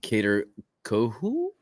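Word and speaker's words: Kohou: Josh first downs versus ker coo I believe is how that's pronounced um coo coo K co co k o h o u um so uh there's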